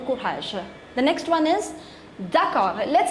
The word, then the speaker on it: d'accord: You don't have to pronounce this last consonant D, it's still R. D'accord, d'accord, which means okay.